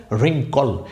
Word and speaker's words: wrinkle: এই কুচকানো বা মোচড়ানো এই কথাটার ইংরেজি শব্দটাই হচ্ছে রিঙ্কল। এখানে শব্দটির কোনোভাবেই ডব্লিউর উচ্চারণ কিন্তু হয় নাই, উচ্চারণ শুরু হয়েছে এখান থেকে, দেখেন RINKLE, রিঙ্কল।